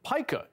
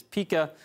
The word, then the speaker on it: pika: The American pika is a mammal that lives in rock fields and mountainous grassland above the treeline here in BC.